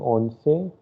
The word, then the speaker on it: once: which you say in english it will be onsei se okay i have told earlier also that